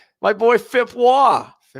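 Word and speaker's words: Waugh: Wah. And I'm not saying it's not spelled Wah as in R o y. It's spelled w a u g h. His name is fip wah.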